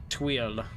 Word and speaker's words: tuile: But, yes, it's Tweel. Like, Tweel. But you don't say le.